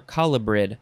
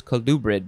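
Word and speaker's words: colubrid: no no no you can say calgary or calabrid i thought it was kalubrit but no no you have to say calgary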